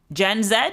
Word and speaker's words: Gen Z: Let's settle this one now. Gen Zed or Gen Z? So for the question of Gen Zed versus Gen Z, the BBC pronunciation unit's advice is that both are fine.